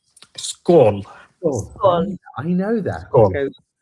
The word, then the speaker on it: skål: is it tall? Skål.